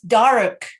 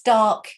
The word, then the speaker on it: dark: can hear the difference listen to this it's dark in here or it's dark in here american in english yeah and you're kind of